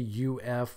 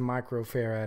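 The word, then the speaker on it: µF: tool in the oven please never say UF when referring to microfarad again it's triggering if hearing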